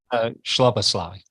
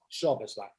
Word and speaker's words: Szoboszlai: Szoboszlai. Szoboszlai.